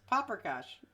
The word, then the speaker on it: paprikash: Where's the R in paprikash? I don't know. Yeah, you just said it right just now. Paprikash, yes. I called it chicken paprikash. What did you say? I thought it had an R in it. No, paprikash.